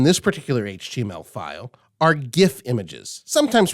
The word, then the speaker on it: GIF: The first type, which we're actually not using in this particular HTML file, are GIF images, sometimes pronounced GIF.